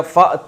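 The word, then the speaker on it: فأتوا: तो फ आ गया तो अलिफ साइलेंट हो गया तो क्या बन गया फत यू फिर उसको पढ़ते हैं फतू ले आओ बस सूरतिन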